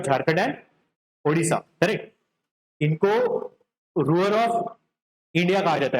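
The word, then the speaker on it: Ruhr: इनको रूअर of India कहा जाता है। रूअर ये जो रीजन है ना जहां से रायने रिवर फ्लो कर रही है उस रीजन का नाम है रूअर।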